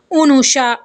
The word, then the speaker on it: Anusha: तो इसका जवाब ये है कि अनोशा जो है इसी ज़बान का लफ्ज़ है जिसका सही तलफ़ुज़ उनूशा, अलिफ और नून के पेश, वाव के सुकून, शीन के ज़बर और हा